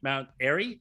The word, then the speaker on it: Mount Airy: robinsville swing county matchup or the avery county mount airy is that how you say it i'm sorry